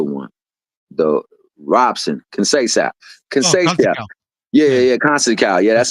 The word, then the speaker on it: Conceição: Yeah, Conceição.